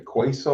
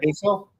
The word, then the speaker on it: queso: Like a quiso or something like that. Queso.